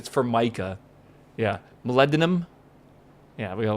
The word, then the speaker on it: Formica: Chat would not get over the fact that I was pronouncing it wrong. Right? It's Formica.